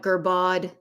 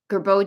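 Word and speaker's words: Girbaud: She used to call it Gerbaude, kind of like, what was that? There was in a movie, somebody mispronounced it. I do have a Gerbeau jacket that I bought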